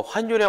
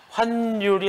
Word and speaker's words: 환율: 환율이 아니고 환율이에요. 여기서 쓸데없이 니은이 더 들어갈 이유가 없으니까 우린 이거를 환율 이렇게 읽으면 딱 좋습니다.